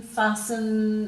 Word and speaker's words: fasten: hassles jostle and castle so all of those T's are silent in the first we really have some they've got them finishing with a schwa sound so often soften fasten hasten listen listen in